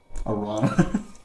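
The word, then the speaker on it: Arrana: me is that why you were being it's pronounced right your tongue Arana ronga it's okay to be ranga all right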